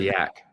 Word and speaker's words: YBC: Um, I was going to say YBC, but I don't even know how to pronounce that. We all say yak.